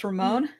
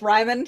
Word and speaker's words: Rimon: Yeah, but if you're, you know, you might you might pronounce it the English way, and it's Rimon, you know, like Simon, only with an R.